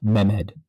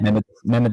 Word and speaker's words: Mehmed: I always forget how to pronounce that. Please, I mean no disrespect if I'm pronouncing it, but I think it's Mehmed, Mehmed. Okay. Mehmed II.